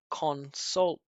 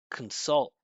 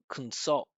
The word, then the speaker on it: consult: consult with different I consult con instead of right he didn't make it a reduction he didn't remove the vowel he made it small but that still doesn't do the job. It's got to be just C and inside the body consult.